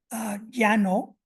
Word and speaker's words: llano: So we have llano is spelled llano in some dialects, but it's llano in some other dialects.